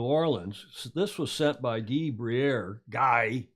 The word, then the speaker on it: Guy: This was sent by Guy. He doesn't like when I say Guy, the French pronunciation.